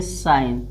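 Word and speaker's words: sign: इसी तरह देखिए साइन एस आई एन यानी इसको का पढ़ना है। जी को साइलेंट रखना है। एस आई जी एन है। इसको काना है साइन।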